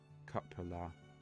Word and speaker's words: cupola: of dull red brick with a little weathercock-surmounted cupola. I think that's how it's pronounced.